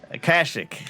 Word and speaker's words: Kashyyyk: It's like it'd be one of those things where you have to spell it in a spelling bee. Kashyy. Kashyyyk.